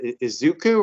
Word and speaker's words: Izuku: And I got to tell you, I'm probably going to mispronounce the name, but Izuku, right? Is that how you say it? Izuku, yeah.